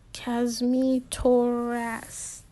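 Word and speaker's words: Kosmitoras: here the teacher calls butchering the pronunciation of my name um it's kazz me toe rest kashmi taurus actually i respond getting up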